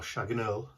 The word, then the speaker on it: Chagall: by the French artist Jean-Pierre Chagall, or Chagall, again, French pronunciation.